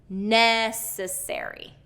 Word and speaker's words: necessary: Okay, words like necessary, first syllable stress, necessary.